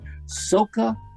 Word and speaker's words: Soca: Calypso and then I'm print I think I'm pronouncing this right Soca music is that right Soca s-o-c-a he has